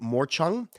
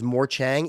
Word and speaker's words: Morchang: And I used to, for years, I pronounced the Rajasthani instrument, the Morchung, as Morchang. It is pronounced Morchung.